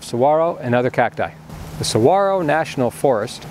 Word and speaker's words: saguaro: the Saguaro National Forest. Located on the outskirts of Tucson, Arizona, this national park is home to a large number of saguaro and other cacti. The Saguaro National Forest, pronounced Saguaro, not Saguaro, offers over 128 miles of hiking